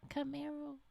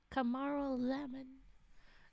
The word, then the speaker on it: Camaralzaman: No, not Camaro. Camaralzaman. Camaralzaman. Now I want to call him Camaralzaman.